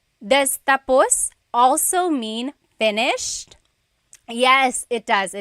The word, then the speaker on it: tapos: So, when it's tapos, when the emphasis is at the end, tapos, that means finished. When the emphasis is on the first syllable, then it means next.